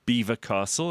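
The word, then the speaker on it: Belvoir Castle: It's called Beaver Castle. It's spelled Belvoir. So the French would say, So let me explain why this why you pronounce it differently to the way that it's spelled because French obviously came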